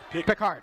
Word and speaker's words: Picard: Ended up being recovered by Nathan Picard, excuse me. Picard, okay. Yeah, I asked him tonight. I didn't say to him when he told me the pronunciation, oh, you mean like Jean-Luc, because I'm realistic about